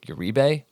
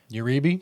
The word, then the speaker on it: Uribe: I know it's pronounced. It looks like Yuribe and that's how I would have pronounced it.